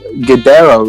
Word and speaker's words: Guidero: a big one um your last name is gudero right how do i pronounce that yeah that was perfect a lot